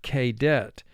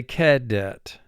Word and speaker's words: cadet: but val group 2 indicates the a would say its name and we would pronounce the word kdet but we say cadet so the sound that